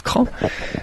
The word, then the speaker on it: Craon: sud-ouest de la mayenne la ville de craon qui s'écrit travail mais qui se prononce crainte c'est une ville de